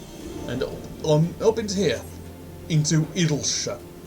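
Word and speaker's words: Idyllshire: Into Idleshire. Some people would insist it's pronounced Idleshire. But those people are wrong. Because it's not, for instance, you wouldn't pronounce Yorkshire, Yorkshire. It's Idleshire.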